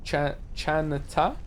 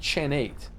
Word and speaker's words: Chaneta: It's pronounced chate. Chaneta, not chenate.